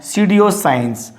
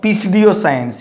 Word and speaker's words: pseudoscience: Now pseudoscience, not pseudoscience.